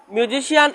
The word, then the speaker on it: musician: মিউজিশিয়ান এই ওয়ার্ডের মধ্যে যে এম ইউ এস আই সি আই এ এন, মিউজিশিয়ান এই লেটারের পর সি লেটারের পরে আই এ আছে, বাউল হিসেবে আছে, এজন্য আই এ থাকার কারণে সি লেটারের উচ্চারণটা বাংলা অক্ষর তালিবের শ এর মতো হয়েছে। তো আমরা এই ক্লাসে আমরা